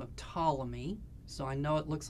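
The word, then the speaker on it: Ptolemy: by the name of tmy so I know it looks like pamy but it's tmy so you don't pronounce the p and he was an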